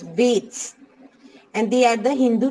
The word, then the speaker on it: Vedas: For example, the Vedas, and pronounced as Veds, and they are the Hindu religious books.